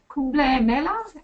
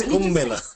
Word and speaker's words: Kumbh Mela: And I don't know how to pronounce Kumbla Mela, am I right? Yeah, it's Kumbh Mela.